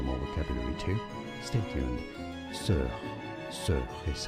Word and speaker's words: sœur: Sœur.